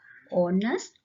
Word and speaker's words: honest: See here, that is R, honest, honor. In all the three words, the H is silent.